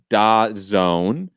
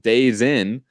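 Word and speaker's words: DAZN: doesn't look like it's da zone the letters themselves in tazón or as Heath farther in the chat says I still pronounce it days in like you know it's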